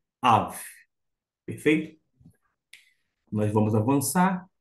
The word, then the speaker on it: אָב: exercício P em hebraico alguém vai dizer assim não é ABA não aba é um vocábulo aramaico e que é portanto um pouquinho diferente na sua pronúncia desta forma em arami aba mas nós estamos no hebraico bíblico Av Perfeito nós vamos avançar